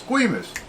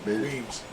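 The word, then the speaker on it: Guemes: Yeah. Guimas. Yeah. Not island. Weems Island. Huh? Weems Island. Weems Island. Okay.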